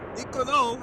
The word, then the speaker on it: Nicolo: Ciao Nicolo, I should say. Sorry, emphasis on the last syllable.